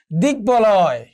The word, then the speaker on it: দিগ্বলয়: একটু খেয়াল করে দেখো যে বাংলা শব্দে ক থেকে সন্ধিসূত্রে আগত যে গ, এর সঙ্গে যদি ব ফলা যুক্ত হয় তাহলে এই বর উচ্চারণটা কি থাকবে, অবিকৃত থাকবে, অর্থাৎ ব ফলার উচ্চারণ হবে। যেমন দিগ্বলয়, দিগবালিকা।